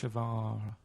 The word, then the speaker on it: Che Guevara: Che is like shake, and his surname is like guitar. Right. Guevara.